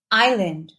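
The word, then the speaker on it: island: ज letter S अगर letter S से पहले आई है तो एस साइलेंट होता है फॉर एग्जांपल आइलैंड आइल अब बात करते हैं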